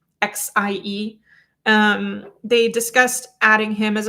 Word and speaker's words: Xie: Ben Shia was, I mispronounced his name yesterday. I think I said it was Ben Shia. It's Ben Shia, Xie.